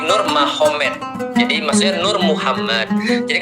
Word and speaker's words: Nurmagomedov: sana Muhammad jadi mahomed jadi tulisnya magomed Tapi bacanya mahomed kan gitu kan Ya jadi Nur magomedov itu jadi Nur mahomed Jadi maksudnya Nur Muhammad